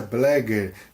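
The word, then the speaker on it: Bleger: José Blagger, tá? Assim a pronúncia.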